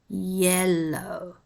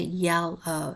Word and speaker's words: yellow: Oman orange yellow brown note the spelling of yellow it's yellow y-e-l-l plus o w yellow you don't say yell oh it's yellow Brown Orange ouch couch